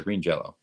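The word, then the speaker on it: Green Jellÿ: pronounced oh so right even green jelly is pronounced Green Jello that's what right so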